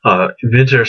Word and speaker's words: Winter: perfume called berlin inventor vinter spelled like the English word winter the season and it's just like